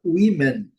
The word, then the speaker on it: women: Inicialmente na letra O, com som de cur. É um caso isolado, mas cabe a gente observa a palavra women.